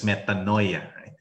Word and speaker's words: metanoia: In Greek, we have this word, metanoia, which we pronounce in English as metanoia.